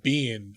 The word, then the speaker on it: Biehn: lines yeah uh Michael Bean uh of course who Michael Bean sorry I've been connected on that before yeah it's pronounced like b-e-a-n yeah yeah um anyway